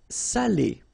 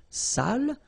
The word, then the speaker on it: salé: So if you don't put the accent, it means dirty, and then you pronounce it sale.